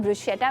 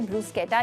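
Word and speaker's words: bruschetta: इसको हम ब्रुशेटा भी कहते हैं और इसकी सही प्रोनाउंसिएशन है ब्रूस्केटा, यानी कि समझें कि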